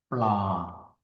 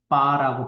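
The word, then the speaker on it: ปลา: 플라 또는 태국인들은 바라고 발음을 많이 하겠죠.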